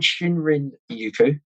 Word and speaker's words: shinrin-yoku: It’s called shinrin-yoku, is the actual pronunciation for forest bathing.